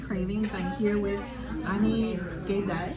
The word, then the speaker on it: Gaydai: I'm here with Ani Gaydai. Anigeda, yeah.